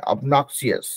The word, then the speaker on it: obnoxious: तो देखिए यहाँ पे थोड़ा सा इंटरेस्टिंग ये है कि वो अबनॉक्सियस नहीं करके अबनॉक्सियस वो अ वाला टोन में है वहां पे, ठीक है?